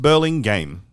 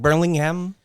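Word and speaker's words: Burlingame: It's pronounced Berling game. Okay. Like Berlingham.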